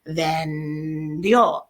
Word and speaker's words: vendió: You only sell something once, it's going to be preterite, vendió, accent on the O.